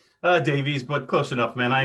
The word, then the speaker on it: Davies: And today we have the privilege and honor of having Jay Davis. Did I pronounce that right? Davies, but close enough, man.